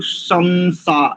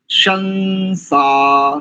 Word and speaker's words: शंसा: जी संस्कृत ऐसा तो इसको कई लोग शमसा ऐसा कह रहे थे नहीं यहां पर शंसा सहस्र शंसा ऐसा ही करें ठीक है एकरूपता की